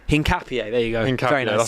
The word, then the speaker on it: Hincapié: Piero Hincapié. Hincapié, there you go.